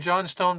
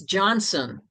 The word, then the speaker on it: Johnstone: Correspondence from Deep regarding Johnstone Pond Dam. You know, it's not John Stone, it's Johnson.